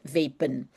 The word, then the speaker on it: vapen: Uh normally an a you have to pronounce ah in Dutch but here it's an it's a word coming from English. So we will pronounce it like in English vape. vapen and the en well